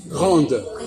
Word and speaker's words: grand: Et par exemple, grand, grande. Voilà. Quand je dis grande, petite, on entend le D. Et quand je dis grand, on n'entend pas le D.